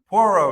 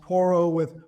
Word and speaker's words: Porro: Porro. Yeah, I tell people Porro. it's pronounced Porro or Zorro with a P.